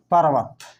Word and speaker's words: पर्वत: ये क्या है, तो ये भी हिंदी में र होता है, लेकिन इसका उच्चारण व के पहले होगा और र के बाद होगा, लेकिन आधा र लिखा नहीं जाता है, इसीलिए इसको रेफ के रूप में ऊपर अगला शब्द पर लिखा जाता है, और इसका उच्चारण शब्द के पहले होता है। वह है तो वह के पहले होगा, पर्वत, पर्वत।